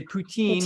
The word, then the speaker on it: Putin: they are they are we're going to use the American pronunciation of Putin not we're not going to say poutine which is what the french say and Putin is a